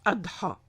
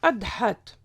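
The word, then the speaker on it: أضحى: Quant au mot Adha, il s'écrit en arabe avec en lettre finale le alif marsoura, donc avec la semi-voyelle Y, mais sans point en dessous et qui se prononce A.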